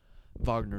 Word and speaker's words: Wagner: player as well but or wagner wagner is the correct way to say that in german terminology i know because mo